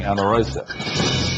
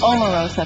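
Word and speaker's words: Omarosa: Well, we immediately identified their weak link as being Amarosa. Omar Rosa. Pierce, if you're going to say my name, say it right.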